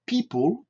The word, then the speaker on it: people: Donc, people, la prononciation est bien people, people, people, people.